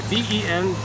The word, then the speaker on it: ventral: V-E-N-T-R-A-L. Ventra. So the ventra. How can we remember that? Ventra. Does it rhyme with anything?